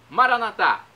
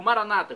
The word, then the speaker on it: Maranata: eu clamo do aramaico maranat como dizemos nós católicos ou Maranata como dizem nossos irmãos separados os evangélicos ou protestantes não importa pronúncia o significado é o mesmo Vem Senhor Jesus vinde